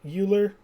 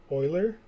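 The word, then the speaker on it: Euler: an Oiler circuit is uh it's written like uler but it's pronounced Oiler circuit an Oiler circuit in general or a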